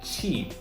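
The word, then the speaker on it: 起: And for QI, it's not ki. Okay, chi.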